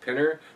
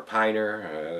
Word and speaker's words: Pinner: Could be Pinner or Piner. It's P-I-N-N-E-R, guys. Pinner, I think that's how it's pronounced.